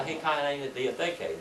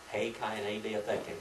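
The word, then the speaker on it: Ἡ Καινὴ Διαθήκη: And then we have the Hei Kaine Diatheke, the New Testament. Hei Kaine Diatheke.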